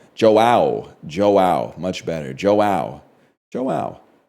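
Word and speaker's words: João: You say it like Joe. Okay, I was going to say Hoeo. So Joe is Joao.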